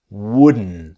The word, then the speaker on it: wouldn't: I wouldn't do it the T disappears and I wouldn't wooden so it's that n